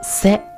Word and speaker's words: せ: 来看到这里，这个字呢读作一个 se，读作一个 se， se se se，对不对？